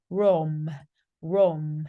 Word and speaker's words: Rome: 자, 로마라고 발음하지 않아요. Rome 이렇게 발음하고요.